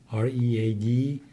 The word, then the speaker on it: read: بعد فعل خوندن to read R-E-A-D. ببینید این گذشتهش هم شبیه همون حالشه، منتها خونده میشه read. درست شبیه R-E-D که میشه سرخ یا قرمز، تلفظش تقریبا اونجوریه ولی شبیه همون read نوشته میشه R-E-A-D.